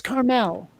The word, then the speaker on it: Carmel: it's California um com it's Carmel that is the way that that is the way that the people who live there pronounce it okay here we go